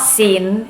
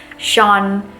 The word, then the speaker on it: Sean: Unless your name has vowels that has a very different sound than what it is. For example, Sean. It's not Sin, it's not Sean. Sean.